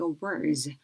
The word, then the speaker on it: awards: 자, 고유명사 같은 경우는 Annual Music Awards awards 할 때 이음절 항상 강세 들어가는 거 기억해 두면 좋고요.